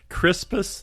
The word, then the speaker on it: Crispus: Crispus, that's Crispus, and Attucks, just like what's above our head where the insulation, except it's spelled Attucks.